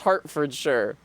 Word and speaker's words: Hertfordshire: Now, Bram, you'd think that it was spelled like that when you hear Hartfordshire, right? But in fact, it's spelled with an E, but I'm pretty sure it's Hartfordshire and not Hertfordshire.